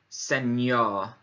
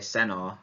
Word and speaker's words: señor: with the tilde on, you would pronounce ny. So, señor, señor, señor. Muy bien. In English, without the tilde on, we'd probably say senor, and that wouldn't be pronounced correctly.